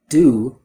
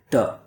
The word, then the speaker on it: do: Instead, they just use a sound that has one mouth position. So instead of do, I hear duh.